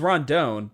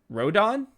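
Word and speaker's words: Rodón: I always thought it was Rondon, but it's saying it's Rodon. Is that right? Rodon. Yeah, Carlos Rodon.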